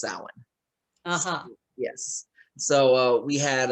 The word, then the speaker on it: Samhain: and uh it's called samhain and uh it's like of course low budget we had every what is it how do you spell that uh s-a-m-h-a-i-n it looks like samhien but it's pronounced samhain yes so uh we